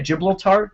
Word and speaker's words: Gibraltar: Gibraltar.